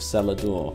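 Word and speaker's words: cellar door: assess the beauty of cellador through the criteria made by david crystal when we do we see that cellador passes six of the ten criteria it has three syllables stressed first syllable uses an l twice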